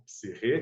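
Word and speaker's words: ψυχή: palavra psique, né, ou psirre, que é a melhor tradução, né? Aliás, a melhor forma de pronunciar o termo psique é psirre, na verdade.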